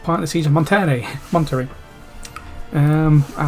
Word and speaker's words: Monterrey: Coahuila, and she's like, in the part of California up here it's called Monterey, but down here it's called Monterrey or something like that, and you pronounce the two actually differently because one's in Spanish and one's in English.